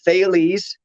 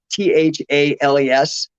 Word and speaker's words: Thales: named my company after it's t-h-a-l-e-s so it looks like thales but it rhymes with bailey's like the